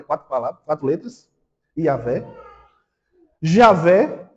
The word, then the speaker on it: Javé: Javé.